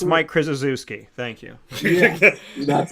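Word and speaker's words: Krzyzewski: the top of the Heap the next Mike shashy Roy Williams of college basketball coach hle you said it wrong it's it's Mike krisi thank you yeah that's how some people pronounce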